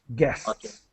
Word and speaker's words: guests: uh and then um guests so the U is silent guests all right and and